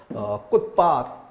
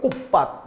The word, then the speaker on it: 꽃밭: 그래서 꽃밭 디귿으로 발음해야 될 걸 꽃밭 이렇게 비읍으로 발음하는 것도 잘못된 발음이다.